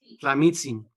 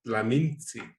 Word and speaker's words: Tlamintzi: Tlamitsin. No, Tlaminsi. Exacto. Mintzi. Tlaminsi. Es que la mayoría no pronuncia la N.